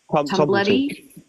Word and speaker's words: Tumblety: Tumbletti? Tumblety.